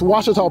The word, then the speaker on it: Ouachita: Wichita but really it's Ouachita Washington how would you pronounce it it's Ouachita Baptist University get it right it's Ouachita people it's Ouachita Washita welcome back to